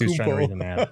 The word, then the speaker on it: Antetokounmpo: So yes, it's Antetokounmpo. Antetokounmpo. I sounded like when he first came to the league, everybody trying to pronounce it on there.